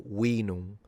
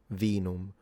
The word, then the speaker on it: vinum: English, and that's because most likely they were pronouncing it with a W, vallum or vinum, rather than vallum, vinum.